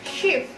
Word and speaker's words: Schiff: SCH kalau berdampingan, saling berdampingan, maka diucapkan sh. Nah, kayak huruf sya ya, sh gitu. Contohnya adalah das Schiff. Schiff. Good.